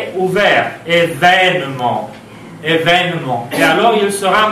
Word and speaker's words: événement: c'est un « ouvert, événement. Événement. Et alors il sera marqué avec accent grave. Il ne s'agit plus de considérer deux accents aigus, mais événement. Donc on change aussi de prononciation.